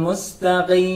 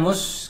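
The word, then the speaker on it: مستقيم: Mustaqim, bukan mus gitu ya. Mus, karena sa itu tadi sa, bacanya sa. Maka sifat sa itu merokok. Nah, sa itu nanti baliknya ketika mati juga harus dibaca agak ringis.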